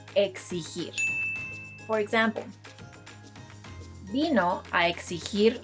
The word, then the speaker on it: exigir: Now let's go over verbs that are often mispronounced, such as, no, this is not pronounced either exigir or exigir. This verb, which means to demand, is pronounced exigir.